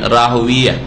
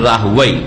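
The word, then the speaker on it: راهويه: ইমাম ইসহাক বিন রাহওয়িয়া, আর কেউ কেউ উচ্চারণ করছে ইসহাক বিন রাহওয়াই, দুটোই শুদ্ধ। ইসহাক বিন রাহওয়াই যেমন সিবওয়াই, যারা আরবি ভাষাবিদ তারা বলছে যে রাহওয়াই পড়বো আমরা, আর মুহাদ্দিসিনে কেরামরা রাহওয়িয়া পড়েছেন, ইসহাক বিন রাহওয়িয়া।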